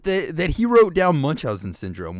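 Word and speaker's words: Munchausen: that he wrote down Munch Housen syndrome which I think have I been saying it wrong my entire life it's not munchow syndrome but holy crap that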